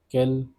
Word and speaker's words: quel: Quel, quelle, quel, quelle. The pronunciation of all these interrogative adverbs is same, that is quel.